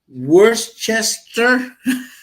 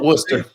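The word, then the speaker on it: Worcester: is spelled glester like glester like Worchester no Worster yeah right righta yeah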